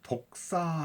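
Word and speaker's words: δόξα: 이게 헬라어로 는 아 독사 라는 그럼 발음이 좀 재미납니다 독사 도개면 표현을 같은데 그게 아니라 발음이 괜한 그런거예요 발음이 발음이 독사 인데 이 독사 라는 뜻이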